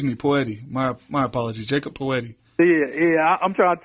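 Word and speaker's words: Jakob Pöltl: poti my my apology Jacob poet yeah yeah I'm trying to tell you sometimes his name is hard hard to pronounce that's yakob Perle you know no it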